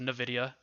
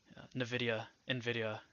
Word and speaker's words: Nvidia: I think it's pronounced Nvidia, but that one stock I think is just going to dictate what happens in the market.